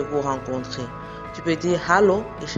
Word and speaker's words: Hallo: Tu peux dire Hallo, ich heiße, bonjour, je m'appelle, et prête bien attention au ha dans Hallo et dans heiße.